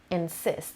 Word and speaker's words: insist: last word is to insist insist two syllables and the stresses on the second syllable means to firmly demand